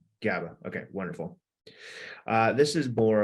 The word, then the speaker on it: GABA: Margot asked, is it GABA or phenibut? I'm not sure if I pronounced that word correctly. GABA. GABA.